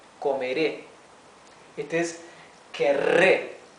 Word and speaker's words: querré: So here we can see that this double R is pronounced R. Okay, it is the rough sound of the R.